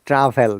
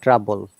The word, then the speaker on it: travel: okay so she would this is travel not trouble remember trouble is something else travel d-r-a i'm writing